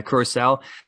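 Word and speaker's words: Curaçao: named to face uh curacao which is how you say it i've checked out it's um i thought it was whatever it's a curacao and bahrain in two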